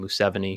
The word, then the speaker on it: Museveni: He's doing actually what the I think you pronounce his name Museveni.